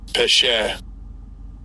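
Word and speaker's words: פשע: And I'll give you a pronunciation. Strong's H6588. Pesher.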